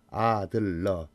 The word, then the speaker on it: 아들러: 심리학의 대부 프로이드, 칼융, 아들러가 있는데 여기서 아들러인지 히틀러인지 발음을 확실히 구분해야 합니다. 아들러.